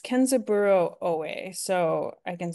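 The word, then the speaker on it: Kenzaburō Ōe: and what was his name again um it's kenzaburo O so I can spell it for you um k a e n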